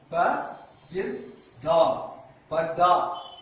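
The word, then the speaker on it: पर्दा: இப்போ இது எப்படி ஆக்க வேண்டும்னா ப இர் தா பர்தா என்று நாம் உச்சரிக்க வேண்டும்.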